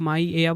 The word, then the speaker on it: Maia: माया, spelling है MAIA। ठीक है, इसे आप माइया बोल लो या माइया बोल लो।